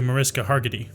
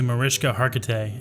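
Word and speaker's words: Mariska Hargitay: know a few women who look up to mariska hargety how do you frick do you say that name name pronunciation oriska okay let's try this one more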